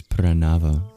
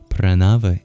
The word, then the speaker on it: Pranava: And the word of the verse is Pranāva. Pranāva, spelled P-R-A-N-A-V-A. It is the sacred syllable Om, or when chanted prolonged, That's the government name of Om.